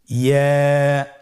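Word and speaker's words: ي: ইয়া হরফটি উচ্চারণের ক্ষেত্রে বারিক হবে এবং 1 আলিফ টেনে পড়তে হবে। ইয়া।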